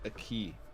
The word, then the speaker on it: aquí: Yeah, Pedro, it's pronounced a key, actually.